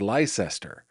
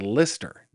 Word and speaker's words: Leicester: in the fruited plains, we might read that and say, that says Leicester or Leicester, but it is not. It says Lister.